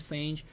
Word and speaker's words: Sange: Sange and Yasha, or Sange and Yasha, depending what pronunciation you're going for. I personally call it Sange because of the 6 Sange build.